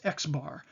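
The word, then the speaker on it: x̄: language of social research the mean is represented as an x with a bar above it oftentimes that's pronounced x bar and you'll see that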